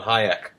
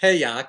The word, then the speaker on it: Hayek: Well, Matthew, I'm reading The Road to Serfdom by von Hayek. Oh, I think it's pronounced Hayek, but okay.